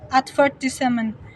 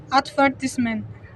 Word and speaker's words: advertisement: ing in British English the word advertisement is stressed on the second syllableel advertisement in American English is ofen stress on the first syllbles advertisement such differences may not